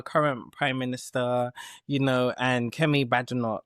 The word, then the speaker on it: Badenoch: So, with Keir Starmer, our current Prime Minister, and Kemi Badenoch. Is that how I said it right? Yeah, okay, Badenoch. yeah, Badenoch.